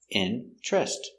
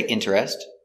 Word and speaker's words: interest: very good example interest interest some people say interest but more common is interest so he has a